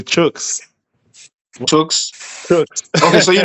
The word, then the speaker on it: Chuks: They say chooks.